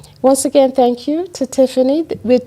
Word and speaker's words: Tiphanie: Tiphanie. There you go. Just PH. But you know, but they're right though, because that PH is pronounced F.